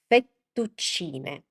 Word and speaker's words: fettuccine: And another one is fettuccine. Fettuccine. Because again, the ending e is e. Fettuccine.